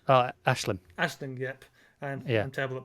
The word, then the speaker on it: Aisling: Aisling, yep. I'm terrible at pronouncing names. I apologise. It's, to be fair, in your defence, Irish pronunciation is ridiculous. That's not fair. Because how is AIS Ash?